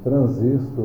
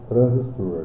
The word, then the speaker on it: transistor: e assim conseguir aqui estudando o transistor ou transistor né Nós podemos pronunciar das maneiras de mostrar trazias tem que colocar um exemplo aqui no nosso o acento agudo Tradutor como está escrito aqui fica a critério de de vocês né o aresto consuma pronunciar de uma maneira e ela descreve uma maneira e eu é de ouro né então assim nada está errado só mesma hora de